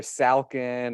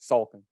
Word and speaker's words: Salkin: last name correctly because it's not difficult to pronounce but it's like I usually hear falcon or Sulkin which is close you know I'm not like offended but you got it perfect Sulkin it's amazing oh it's